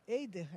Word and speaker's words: Heider: em Carajás, o Matias Heider Eider, é assim que pronuncia, que é fonte incansável